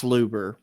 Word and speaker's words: Luber: Is it Luger stuff? Yeah. Uh uh uh you're saying his name wrong, but uh what's his name? Josh Luber. Luber. Yes.